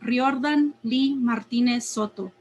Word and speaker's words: Riordan Lee Martinez Soto: For those not in the know, my name is Riordan Lee Martinez Soto. Roll your R's. Get the accento right. Don't come at me with your gringo version because you can't be bothered to learn.